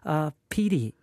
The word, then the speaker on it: pire: I quite like pire. Pire is loan or account. So P-I-R-E, if you doubt my pronunciation, pire is a loan or account.